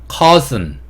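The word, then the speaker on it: cousin: 단어랑 같이 묶어 봤고 사촌은 영어로 cuson이라고 발음을 해요이 단어 생김새만 보면 커 신 이렇게 발음할 것 같은데 그렇게 발음하지 않고 cuson cuson 이렇게 발음한다라는 거 그래서 우리 내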